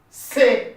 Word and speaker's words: ces: I just added up yes, but I don't pronounce the yes. The yes is not pronounced.